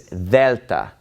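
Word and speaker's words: Δέλτα: So this letter is delta, and it is basically pronounced like the TH in the word the.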